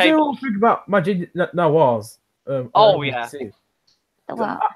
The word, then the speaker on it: Majid Nawaz: Oh, you're Maginoir sorry. means No, Majid Nawaz.